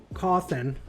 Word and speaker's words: Cawthon: it to you guys real quickly so scott coffin i finally said it right like cheese i'm